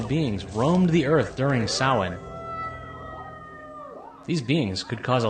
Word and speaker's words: Samhain: 31st it was called samhain yeah i know it's spelled differently than how it's pronounced when did you become